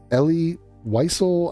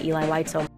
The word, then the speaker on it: Elie Wiesel: So Elie Wiesel, I would accept. Elie Wiesel, Eli. She says Eli. She says a lot of shit, but she might get a pass on this just because it's not that commonly known a name. Wiesel. Night by Eli Whitesell. Eli, you are now misgendering. So Eli Whitesell. The Whitesell is not that bad. The Eli is pretty bad.